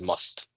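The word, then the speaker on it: mast: again there is footnote an uru word to be pronounced as must just a few years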